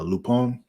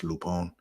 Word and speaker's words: Lupin: show on Netflix uh lupon it's spelled Lupin but it's French so it's lupon l u p i